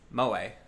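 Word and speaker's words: 萌え: Pronounced moe.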